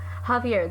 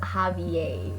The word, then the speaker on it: Javier: And some of the names they mispronounce - like Javier, that’s not a hard name. Lo: No. Iman: That’s not a hard name, but then it’s just like ‘Javiey’. It’s not even - it’s an accent thing, at least respect